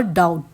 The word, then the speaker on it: doubt: I never डाउट, DOUBTED, लेकिन इस कैसे प्रोनाउंस होगा, बी यहाँ पर साइलेंट है इसीलिए डाउट पढ़ेंगे इसे।